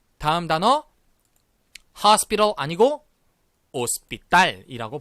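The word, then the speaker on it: hospital: 발음하지 조 그리고 다음 단어 하우스 빌어 아니고 op 딸 이라고 발음합니다 자부 지금 보시는 것처럼 호텔은 어 뗄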